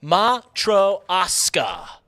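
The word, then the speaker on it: матрёшка: Russian coming through here it is pronounced matro ASA doll it is a Russian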